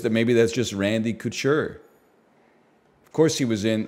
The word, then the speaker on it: Couture: It's got to be Randy Couture, right? It's not Couture. Like haute couture.